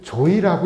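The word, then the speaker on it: 召史: 그 사절을 보면은 소사를 조이라고 읽는다. 그러면서 양민, 아주 좀 양반들이 아닌 이제 평민의 아내를 조이라고 했고, 그 다음에 서민의 과부를 조이라고 읽는다. 그러면 국어사전은 이 이두사전을 근거로 해서 만든 거니까 조선시대에는 소사라고 읽기보다는 조이라고 읽었다라고 하는 거죠. 그런데 한자 사전을 보면요, 이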